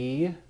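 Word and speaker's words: αι: make these dip thongs the first one a I right Alpha and Iota what sound will that make it'll say I there's I like an Isle the next one a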